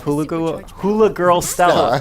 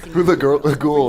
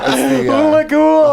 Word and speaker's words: Hula Ghoul: solving, and you have Hula Girl Stella. That would have been funnier if I could say her name right. Hula Ghoul is the Hula Ghoul. Hula Ghoul.